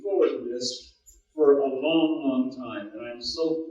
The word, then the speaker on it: Loh: Ito Lo, and with, now I'm going to try to get it right, Ito, Lo, okay, say that, Lo, sounds good.